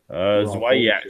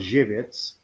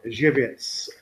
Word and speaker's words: Żywiec: It sounds sexy because Zwiak. So you're talking Zavit. There we go. Yeah, Zavik. There we go. That's how. That is amazing. hold on. Let's pronounce this properly. It's called Żywiec.